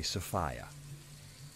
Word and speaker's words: Sophia: And here is this conflation of this word, Sophia's, and then, you know, for clarity from the name, in planetary tantra we say Sophia. It rhymes with Gaia.